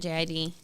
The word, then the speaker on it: JID: song with is it JID? Yeah. And they're Someone like, told me he pronounces it as Jid, Jid.